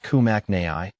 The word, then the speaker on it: Peperomia kimnachii: is a peperomia kimachi the pepp Oma kimachi pronounced kumak Nai is a succulent belonging to the peperomia genus